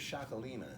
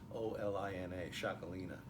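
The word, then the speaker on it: Txakolina: So the first one I wanted to show you was a Chaume Estance, and the grape here is Xacolina. And Xacolina is spelled oddly. It's T-X-A-K-O-L-I-N-A, Xacolina. The great part about this,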